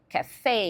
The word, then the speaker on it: café: Então, por exemplo, eles falam garage, eles falam café e enfatizam a última sílaba para respeitar essa tendência de palavras que são emprestadas do francês terem a última sílaba tônica.